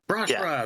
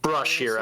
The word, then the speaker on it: Brashra: Brashra, there it is. Brashira, I think is how I pronounced it.